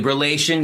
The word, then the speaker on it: reaLation: Vincent Lane and Matt Loucks from the band reaLation. Did I say it right? Yeah, absolutely. reaLation. Yep, that's us. Yes, sir. reaLation. Okay, guys. So it's spelled REALation.